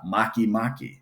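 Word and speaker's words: Makemake: Uh, Maki Maki, spelled Make Make out there.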